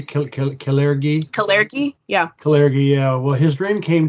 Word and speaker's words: Kalergi: and American, and this dream, how do you pronounce the guy's name? Caligari? Kalergi? Yeah. Kalergi, yeah.